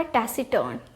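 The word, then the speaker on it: taciturn: हैं फिर है आपका टेसिटर्न ठीक है ये हो गया आपका टेसिटर्न यहां पे जब हमने प्रोनाउंस किया तो हमने आर को साइलेंट कर दिया टैस टर्न ठीक यहां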